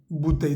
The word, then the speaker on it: bouteille: Acá es importante resaltar que la palabra bouteille comienza con B grande, se pronuncia con los dos labios, B, bouteille de vin.